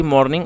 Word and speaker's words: mourning: मतलब सुबह होता है, और इसकी मिलती जुलती प्रोनाउंसिएशन है, लेकिन यदि आप ध्यान से देखेंगे तो जो इसकी स्पेलिंग है वो अलग है। MOUR, मॉर्निंग, MOURNING, मॉर्निंग।